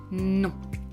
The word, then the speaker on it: non: So, you know, in French generally there isn't a lot of nasality, but in this word specifically there is a lot of it. Non. You can't really pronounce it without your nose.